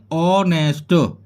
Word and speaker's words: honest: यानी कि जैसे HONEST, इसको हम बोलेंगे ऑनेस्ट, एच नहीं बोली जाएगी, एच साइलेंट रहती है इसमें।